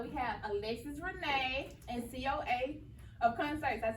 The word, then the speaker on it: Coaofconcerts: So we have Alexis Renee and Coaofconcerts.